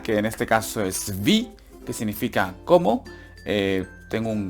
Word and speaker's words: wie: El was, aquí hay que alargar también wie. La W también se alarga, ¿vale? En todas las preguntas que empiecen por W, siempre hay que alargar la W un poquito. Vi.